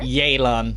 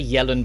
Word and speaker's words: Yelan: Ah, I thought Her name's pronounced here. Yelan, but I'm gonna say Yellen by accident a million times.